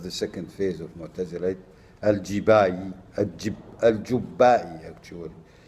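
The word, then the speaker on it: al-Jubba'i: 850, and Abu Ali al-Jibai died 916, which is the second phase of Mu'tazilite, a leader of the second phase of Mu'tazilite, al-Jubbai, actually. It should be pronounced al-Jubbai.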